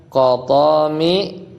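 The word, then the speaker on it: Qatami: Nah, kalau ahlul Hijaz dia bacanya qat qotomi wa wabari.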